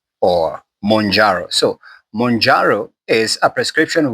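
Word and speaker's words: Mounjaro: The other one is called monjaro pronounced as it's m o u n j a r or monjaro.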